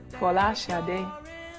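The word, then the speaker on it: Folasade: My name is, my true Nigerian name, or the true Nigerian pronunciation, or as close as I can get to it, is Fola Sade, which means crowning glory.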